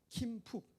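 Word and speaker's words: Kim Phúc: 이름이 킴쿡이라는 사람인데, 킴푹 이름이 베트남 발음이라서 킴푹이라는 분인데요.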